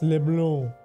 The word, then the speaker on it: Leblanc: Well, it's LeBlanc. Because that's how it's pronounced in French.